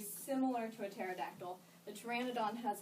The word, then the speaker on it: Pteranodon: one he's too ran it on the P is silent for a Madonna now he was very very similar to a pterodactyl the Pteranodon has like this big bony structure that comes